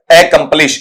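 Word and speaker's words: accomplish: शुरू में जो साउंड है वो थोड़ा सा हल्का रहेगा, इस तरीके से लिखा जाएगा ए, और फिर यहां पर ऐसा साउंड आएगा आपका एकम्प्लिश, ठीक है, इस तरीके से इसे पढ़ा जाएगा।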